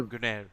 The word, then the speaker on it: Gunnar: Gunnar or Gunnar, take your pick. He Gunair. made a Gunair. That's how it's said. yeah, more French that way.